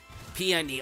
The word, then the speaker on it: Peony: chose to skip it peony okay that's how you pronounce the dude's name this thing's probably gonna